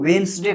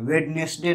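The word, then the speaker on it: Wednesday: इसी प्रकार इसको वेंसडे कहा जाता है, वेडनेसडे नहीं कहा जाता है, वेंसडे, यहाँ पर भी डी को साइलेंट कर दिया जाता है।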